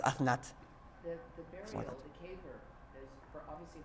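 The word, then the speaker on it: אסנת: I'm pronouncing it Osnat, but if you look at the Kurdistani pronunciation, it's Aznat. Aznat. They pronounce it properly, the thuf with the th. It says Athnat.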